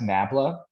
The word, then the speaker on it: nabla: the way the symbol you see here is pronounced nabla um I believe it's a Greek symbol it's